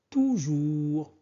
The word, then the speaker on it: toujours: Toujours. Toujours. On ne prononce pas S.